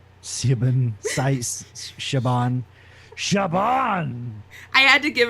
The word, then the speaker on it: Siobhan: Shaban. Shaban! I had to give her, like, not an easy name, I guess. I I know it's pronounced Siobhan, but oh, a French person doesn't know how to pronounce it that way.